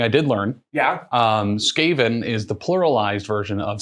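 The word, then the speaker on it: Skaven: and Tim is playing scaven scaven I think is how it's pronounced there's so many different ways people can say scaven um so yeah we're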